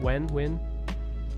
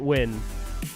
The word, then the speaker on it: Nguyen: No, looks like it's Win in English, and there's like Nguyen Northern Vietnam and Nguyen Southern Vietnam.